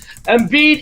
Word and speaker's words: Embiid: Joel Embiid, no matter what side of the border you're on, you want to pronounce his name correctly. Embiid, he's accounted for 79 points, 22 boards, guys, in the series.